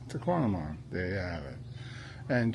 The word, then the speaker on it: Tahquamenon: It's like phenomenon except to tonamon. Phenomenon to quantum. That's it. Tquamon.